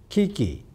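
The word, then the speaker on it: 危機: of two chinese characters in japanese this is pronounced kiki phonetically it is the same but the first character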